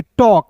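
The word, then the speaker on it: talk: टॉक।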